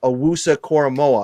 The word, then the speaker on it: Owusu-Koramoah: pronounce it for me jeremiah awusa coramoa is that correct got it on the first time i'm so i'm so